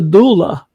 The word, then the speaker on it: doula: What the heck is a doula? Did I pronounce it right?